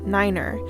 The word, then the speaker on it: niner: letters numbers or commands 9 for example is very specifically pronounced Niner three is tree four is four in the voicemail straightaway